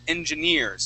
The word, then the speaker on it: engineers: Okay, first off, here you're saying engineers. Okay, the word is engineers, so the accent goes at the very end of the word.